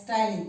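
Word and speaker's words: ptyalin: is also termed as styling this p is silent t y a l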